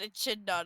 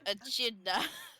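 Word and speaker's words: echidna: I just you so confidently said a chin nut. I'm like my favorite friend a chidna.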